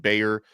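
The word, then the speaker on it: Gbayor: think his visit is starting today Sunday mikai Bayer it's spelled spelled very strangely GB a yo R but it's pronounced Bayer uh he's visiting right now 6'2 230 pound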